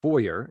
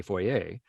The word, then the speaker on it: foyer: Chalet or for example another one that we say in Canada that in the US is said foyer and we say foyer um same thing right yeah and so you're like well yeah but I know that there's an R there and so I can hear the foyer I I hear the r no you don't there's no R there's no R there stop